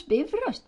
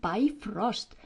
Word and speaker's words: Bifröst: Pronounce be rust by all means, not by frost, please. And keep the accent on the first syllable as always in Icelandic.